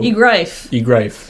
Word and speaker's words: Egrife: He says it rhymes with life, so Egrife.